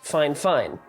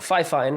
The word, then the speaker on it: FIFINE: said in the email it's pronounced fine fine not F fine which is what it's spelled like it's fine fine so